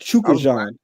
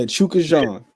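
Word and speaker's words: Chukhadzhian: either, but it's pronounced Chukajan. I was going to ask Chukajan. That's how it's pronounced. Chukajan. Chukajan. Yeah, Chukajan. It don't even look spelled like that, but it's Chukajan.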